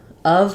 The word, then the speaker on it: of: English um it's really it really should be spelled with a u and a v so the end do